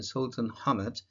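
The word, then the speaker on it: Sultanahmet: a fantastic trip we stayed in hotel in sultan hamad this is the way it is pronounced the first evening we went to a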